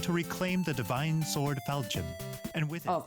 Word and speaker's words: Falchion: Marth sets out to reclaim the divine sword Falchion, and with it Oh, Falchion, that's how you pronounce it.